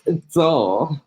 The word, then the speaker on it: Dzoe: Is the D silent? No, it's Dzoe.